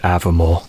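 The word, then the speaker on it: Aviemore: too early in Avermore, because it's pronounced Avermore.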